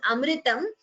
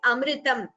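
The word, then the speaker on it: अमृतम्: Here, this word is Amritam. Please note the pronunciation of that word. It is Amritam.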